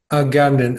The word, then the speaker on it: Agamben: T without the T andw just a gamb a Gambon I I'm pretty sure without the D you're